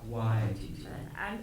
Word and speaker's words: Waititi: Here is a clip that gives you a sense of that balance and pronounce this name one more time. Waititi. Emphasis is on the Y.